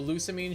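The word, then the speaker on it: Lusamine: So, Lucamine should actually be pronounced Luz Lamina.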